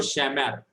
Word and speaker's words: shamar: For example, you can see here shamar, the word shamar. The syllable stressed is last syllable. Sha, one syllable, and mar, that is last syllable. Whenever the accent fall, the yellow color, mar, whenever accent fall on the last syllable, it is called milra.